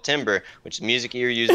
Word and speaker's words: timbre: It's not timbre, it's timbre. Like wait, you actually have timbre, no background whatever. In music. No, you're actually lying timbre, to me. It's timbre, okay? It's pronounced timbre.